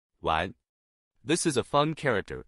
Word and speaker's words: 丸: In today's video, we'll teach you the Chinese character for pill pronunciation. Wan.